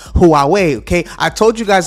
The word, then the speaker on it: Huawei: got y'all last time I I kept saying Hawaii but now it is Huawei Huawei okay I told you guys I was going